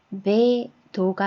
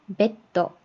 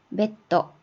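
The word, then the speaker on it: ベッド: 뒤에 있는 글자의 자음이 마치 하나 더 있는 것처럼 요거는 메도가 아니라 메떠, 메떠, 침대고요.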